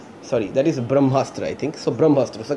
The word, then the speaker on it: Brahmastra: And the next we are talking about that says that Karan's frames with Big B Ranbir Alia tight as in Bahamastra. Sorry, that is Brahmastra, I think.